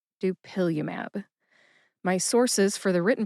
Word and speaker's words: dupilumab: Emphasize that second syllable. Pill. See if you can hear the emphasis when I say it again. Dupillium. Dupillium.